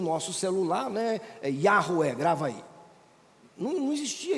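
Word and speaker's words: Yahweh: O que nós traduzimos aqui como a pronúncia aproximada seria Yahué. Alguns traduzem por Javé ou Jeová, bem portuguesado, mas nós não temos mais a pronúncia de Deus.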